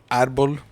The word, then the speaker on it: árbol: Árbol. Oh, doesn't that sound weird to your mouth? It does. Why? Because you said the L at the end.